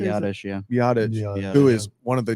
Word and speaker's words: Biadasz: Biadasz, who is one of the top centers in the league.